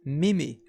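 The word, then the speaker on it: 耳: hear you increases significantly the reading for ear is me me and to meet that sounds like some kind of warm-up for singing like me me me me that kind of thing our next kanji represents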